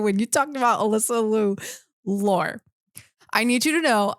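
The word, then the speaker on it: Liu: before she retired and now it's pronounced Alyssa Lou interesting the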